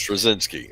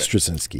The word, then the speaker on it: Straczynski: I don't remember, but somebody that I knew who was Slavic pronounced it for me. So that's Straczynski. Okay. Straczynski.